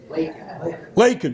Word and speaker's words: Lacon: Lacon, L-A-C-O-N. Anybody know how to say that? Marshall County, Illinois is where he is from. Lakin.